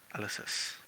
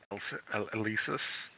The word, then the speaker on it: Elysis: Yeah, the quill lady, Elysis, Elysis. Like Eli, sis.